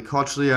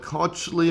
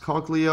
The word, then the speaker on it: cochlea: coach Lee a or I believe it's the pronounced cochlea or a copy I'm gonna call the cochlea and the definition here